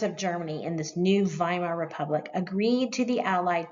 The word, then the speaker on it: Weimar: And here's Friedrich Ebert, the new head of the new republic in Germany called the Weimar Republic, spelled with a W, pronounced like a V.